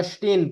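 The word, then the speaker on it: stehen: अगर इसको आप तेज पढ़ेंगे तो स्टेहन नहीं पढ़ने होगा, स्टेन पढ़ने होगा, स्टेन। ठीक है। तो इसमें एच साइलेंट हो गया। एक्सेलेंट हो गया, ठीक है, लेकिन हम ये नहीं कहेंगे है ही साइलेंट, स्टेहन है वर्ड, लेकिन जब हम तेज पढ़ते हैं तो वो साइलेंट हो जाता है, स्टेन।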